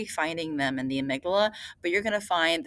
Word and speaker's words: amygdala: is the amygdala so this is uh it's pronounced amygdala but it's spelled like Amy G dalla and